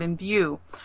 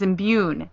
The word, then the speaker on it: imbue: but I'd like to correct Lor's pronunciation of imbue though he says imune there is no such word and it's driving me